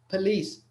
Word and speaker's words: police: ما يدورش شوار، يعني your lips don't make a circle, they stay open. Correct. Police.